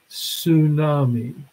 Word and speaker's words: tsunami: also call them a tsunami and how do you spell tsunami starts where the T doesn't it but they don't ever pronounce the T and you kind of